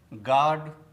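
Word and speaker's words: guard: Antique antique टंग टंग तो दोस्तों आपको भी साइलेंट लेटर यू से बने शब्दों का इसी प्रकार से प्रोनाउंसिएशन करना चाहिए।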